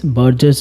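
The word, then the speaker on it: Buerger: the first one is Burger's disease also you can pronounce it at Burgers disease but remember the spelling it is b u e r g e r s because there's another disease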